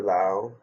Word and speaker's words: Laos: So I just finished my week-long journey through Laos. You know the S at the end is silent.